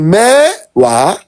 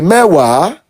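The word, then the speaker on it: mẹ́wàá: So at your first attempt, you drag the mewa, but it's actually mewa.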